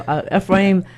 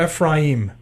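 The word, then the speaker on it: Efraín: So Efrain, by the way, do you pronounce it Efrain or Ephraim? You can call me Efrain if you know how to pronounce the name with a Spanish dialect. If you do it in English, no, they don't have that. They don't roll.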